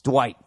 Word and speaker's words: Dwight: It's Dwight. It's Dwight Howard. Dwight. Spell it D-U-H White.